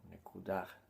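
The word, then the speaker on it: נקודה: Y este es el punto Nekuda, que Nekuda, como se pronuncia en hebreo, Nekudah, es el punto, significa punto.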